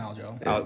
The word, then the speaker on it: Aljo: Looking at the odds, I know he lost, how do you pronounce his name, Aljo? Yeah, you just call him Aljo. Just call him Aljo.